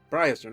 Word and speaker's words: Briarstone: Again, I don't know if I pronounced it correctly. It's BRIARSTONE. Barstone? Briarstone, okay.